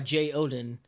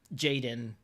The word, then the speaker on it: JeyOdin: If it makes you feel better, I go by JeyOdin. But a lot of people that see that will call me JeyOdin or Jaden.